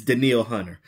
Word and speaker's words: Danielle Hunter: But no, it's Danielle Hunter.